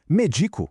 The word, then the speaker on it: medico: Méico com a força na segunda sílaba e sem acento é a ação.